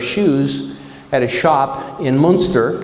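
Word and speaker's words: Münster: at a shop in Monster Germany or moonster am I saying it right moer moonster thank you Tom Thomas is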